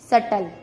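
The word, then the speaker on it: subtle: बी का second रूल है, जब टी से पहले बी आता है तब भी बी का उच्चारण नहीं किया जाता। जैसे डेट, डाउट, सटल।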